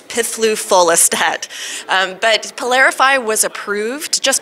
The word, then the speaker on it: piflufolastat: you're intrepid enough to pronounce the generic name it's pithloofolistat but polarify was approved